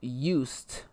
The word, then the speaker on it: Yost: And, okay, well, we pronounced name wrong. It is Yost. All right. Well, Yost. I don't see a U in there. No, so give sorry. us a My name is Yost.